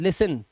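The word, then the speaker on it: listen: देखो कह रहा है टीई एन और टी सी एच में टी साइलेंट होता है हमेशा अगर किसी वर्ड के अंदर ये हो दिखाई दे आपको देखो यहां पर यहां पर टी एन दिखाई दे रहा है कहां लगा हुआ है एल आईएस के बाद लिसन टी साइलेंट न लगा हुआ है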